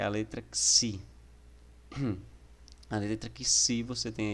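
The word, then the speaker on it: ξῖ: como em grego, e a pronúncia dela é como se fosse um X, né, em táxi, tá? Como se fosse um X em táxi.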